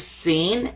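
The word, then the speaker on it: سين: Now this one is seen. Sa. Like a regular S.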